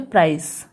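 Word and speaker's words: price: क्यों पढ़ रहे हैं, क्योंकि आई के बाद एक कॉन्सोनेंट छोड़ के ई है, इसलिए आई को उसके लॉन्ग साउंड यानी कि उसके नाम से पढ़ेंगे, तो क्या हो गया प्राइस, ई साइलेंट होगा।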